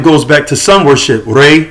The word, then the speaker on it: Re: And so a lot of it goes back to sun worship, Re, which is sometimes false pronounced as Ra.